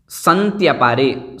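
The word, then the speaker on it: सन्त्यपारे: संत्यपारे, संत्यापारे इस प्रकार से बोलना है।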